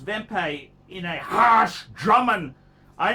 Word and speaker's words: Wempe: third watch then watch then watch is a wempe vempe pronounced vempei in a harsh drummond i know wempe they're